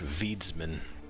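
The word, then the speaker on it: wiedźmin: The witch was just clarifying how to pronounce witchman in Polish. Veedsman, apparently. The Hexer, I see.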